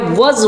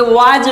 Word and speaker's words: was: आप लोगों ने पढ़ते आ गए हैं कि वाज वेयर, लेकिन ये वाज वेयर नहीं है, इसका प्रोनाउंसिएशन होता है वॉज और इसे बोलते हैं व।